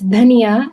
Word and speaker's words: Dhaniya: Mint is more like, sorry, I'm gonna mispronounce this. Dania? Dania? Sorry, I'm dyslexic. And It's dhania, it's coriander.